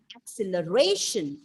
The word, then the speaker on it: acceleration: sorry acceleration right acceleration then again fourth syllable acceleration and that is the perfect pronunciation and if you stress